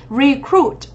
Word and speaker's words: recruit: Từ này theo đúng quy tắc động từ trọng âm dẫn tới thứ hai. Đấy, mình đọc là gì? Recruit, đúng không ạ? Trọng âm 2.